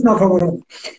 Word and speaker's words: ناکامورا: در ننگرهار، اسمش ناکابارا بود، افغانی ها چون تلفظ اسمش اینجوری بود بهش میگفتن کاکابارا، آره به عنوان عمومراد کاکامراد بشه، اسمش ناکامورا.